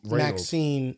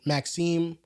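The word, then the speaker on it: Maxime: No, it's Maxine. Maxim, that's how you pronounce.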